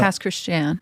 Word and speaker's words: Pass Christian: Past Christian. Very rough name for me. It's the Cajun pronunciation of Christian.